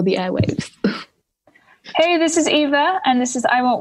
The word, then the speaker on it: YVA: Keep an eye on her socials, which is Eva Official on Twitter and Eva_music on Instagram, and she's also on Facebook. And just a little note, Eva is spelt YVA.